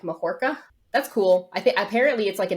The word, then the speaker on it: Mahoraga: I heard that, because I've always heard it pronounced Mahoraga, and I don't think that that's incorrect because it is like a Buddhist term, but the way that they pronounced it in Japanese was something more like Mahorka.